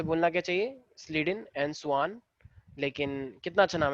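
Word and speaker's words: Schwann: कुछ लोग इनको बोलते हैं स्केलेडन एंड साकवान, ठीक है, लेकिन एक्चुअली जो प्रॉपर प्रोनाउंसिएशन है वो है स्लीडन एंड सुआन।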